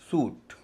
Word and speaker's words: suit: एफ आर यू आई टी फ्रूट उच्चारण हो रहा है उ एस यू आई टी सूट आर ई सी आर यू आई टी यहां